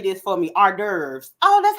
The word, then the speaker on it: hors d'oeuvres: Hors d'oeuvres.